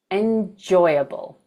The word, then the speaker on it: enjoyable: And last of all, we have our one and only four-syllable word where the stress is on the second syllable. That word is enjoyable. Enjoyable.